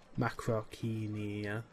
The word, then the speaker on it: Macrauchenia: But you can add prehistoric animals though, that aren't dinosaurs, like macrauchenia. Yeah, that's how you pronounce it.